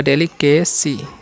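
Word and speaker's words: delicacy: डेली कैसी, सिवाय है इसलिए स उच्चारण होगा।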